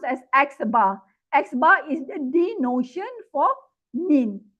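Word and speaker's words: x̄: So this is pronounced as xar. xbar is the denotion for mean sample mean.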